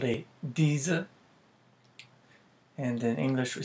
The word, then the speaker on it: dizi: It's called a dizi. And in English we spell that D-I-Z-I.